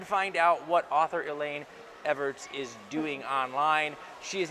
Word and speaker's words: Ewertz: Did I pronounce that right? It's Ewertz, close enough. Ewertz. Close enough. Ewertz.